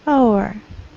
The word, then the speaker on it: hour: The next, homophones, power and hour. So H is not pronounced.